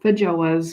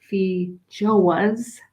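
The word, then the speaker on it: feijoa: fijos that's right i'm saying it right now i would normally call it fidget was but i'm calling it fee joe was because you guys always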